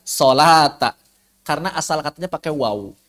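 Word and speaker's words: صلاة: Tapi bacanya sholata.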